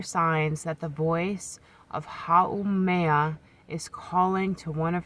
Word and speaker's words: Haumea: And it's pronounced Haumea. Haumea.